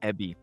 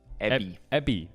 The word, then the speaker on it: Evi: How's it pronounced? So it's Evie, right? That's how you say it. It's Ebby. Evie. B. Ebby.